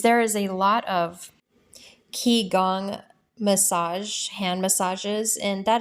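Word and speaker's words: qigong: on YouTube is there is a lot of key gong massage hand massages and that is spelled q-i-g-o-n-g and they have an impact in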